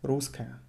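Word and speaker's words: русская: be ruth cash cola can you hear how i pronounce rusker i eat one as ruska you rather write it with double s but pronounce it with one as ruth cash cola my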